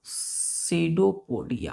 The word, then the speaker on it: pseudopodia: पी यहाँ पे silent है, ये बिल्कुल नहीं बोलेगा, साइलेंट है, तो पढ़ेंगे सीडो। सी, यू भी साइलेंट हो जाता है, यहाँ पे यू भी साइलेंट हो जाता है, तो पढ़ेंगे सीडोपोडिया।